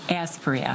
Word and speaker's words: Aspria: Is it Aspria? Yes. I gotta take a quick look. Aspria. Everyone's been saying it differently, so it's Aspria.